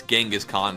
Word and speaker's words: Genghis Khan: And again, it's Genghis Khan, not the Pokemon.